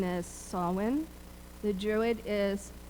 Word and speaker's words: Samhain: know that we are all tempted to say samine the GIC pron pronunciation is sawin the Druid is saen and here in the US we say pumpkin